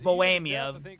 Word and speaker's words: Bohemia: I recommend if you ever have a chance, get Bohemia or Boamia is the better pronunciation, but uh Bohemia is a really good Mexican logger if you're ever looking for something.